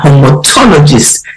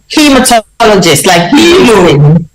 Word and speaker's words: hematologist: will be talking about the role of the homotologist in looking after cancer patients did I pronounce that word properly because I am very passionate about did I choose did I get it hematologist right he is hematologist hematologist yes well thank you very much yes